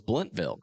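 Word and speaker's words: Blountville: Oh, it's Bluntville.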